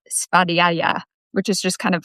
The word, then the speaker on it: svadhyaya: So in Sanskrit, it's called svadhyaya, which is just kind of fun to say.